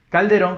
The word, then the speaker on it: Calderón: la palabra calderón haber calderón que en este caso es mi apellido calderón le ha colocado tilde nos tilde por qué porque justamente terminen n es palabra aguda que termina en n